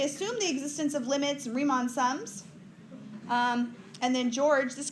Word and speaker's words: Riemann: thing we're gonna talk about is something called Riemann sums riemann it's how you pronounce it Riemann know Riemann sums they come